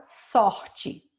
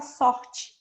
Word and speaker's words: sorte: Mas ninguém fala sorte. Quando a gente fala sorte, como se fosse o I. A gente escreve de um jeito e pronuncia de outro. Então, é para vocês observarem isso, que a pronúncia fica diferente quando o E está no final.